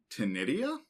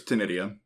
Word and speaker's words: ctenidia: These are very highly modified gills that are technically called ctenidia, I think is how you pronounce that. It's got a C at the front, which is throwing me off. Yeah. But I'm pretty sure it's ctenidia.